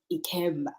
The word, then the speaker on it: Ikemba: But you have an interesting surname, Ikemba. Am I pronouncing it Yeah.